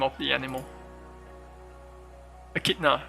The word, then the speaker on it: echidna: something come from i don't know how to pronounce the the name of the animal echidna right echidna csv uh there are four